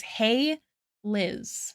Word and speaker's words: Hailiiz: Um but my username that you can also call me by is hey Liz. Not hi but hey.